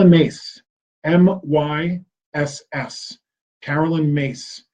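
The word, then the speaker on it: Myss: mace my SS Carolyn mace it's pronounced mace but it's spelled like Miss my SS she does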